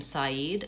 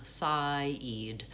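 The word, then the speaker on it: Syed: The name Saeed, S-Y-E-D, you might help them with the syllables. Saeed, or write it out like S-I-G-H, Eid, E-E-D.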